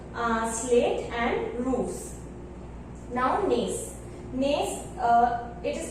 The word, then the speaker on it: gneiss: Gneiss, it is pronounced as gneiss, not gneiss.